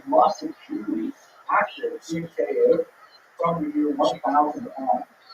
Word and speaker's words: Kyiv: In Russian, it's pronounced Kiev, or Kiev.